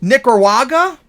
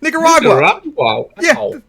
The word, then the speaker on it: Nicaragua: want to take over nicar waga I'm saying it wrong and all that yeah Nicaragua and for some reason